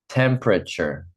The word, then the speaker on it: temperature: Temperature. Good. I see Nick practicing. Yeah, we have we make it into three syllables.